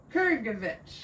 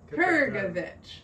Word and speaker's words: Krgovich: Krgovich. Get that G in there. Krgovich.